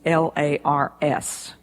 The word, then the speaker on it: Lars: that his name is l a RS that's a hopelessly difficult name for most people unless they're Scandinavian in background but his first name is Lars rhymes with stars his last name is